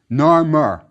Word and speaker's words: Narmer: rectangle are two hieroglyphs the one on top is a catfish which was pronounced noir in ancient Egyptian beneath it is a chisel pronounced murk Narmer that's how the first Kings name was pronounced now let's look at